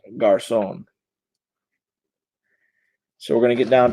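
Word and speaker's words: Garçon: gosh sown Pierre Garcon that really is how it's pronounced I can see because of that little mark underneath the sea so is pronounced Garcon so we're gonna get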